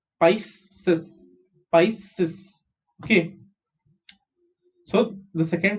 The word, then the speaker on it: Pisces: Okay, PIS is Pice and CES is Cis. Pisces.